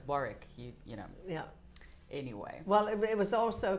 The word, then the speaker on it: Warwick: I remember when I was younger, my father had to correct me because I, we were driving past the farm. I think I was 18 or something, and I pronounce that incorrectly said, its War-rick.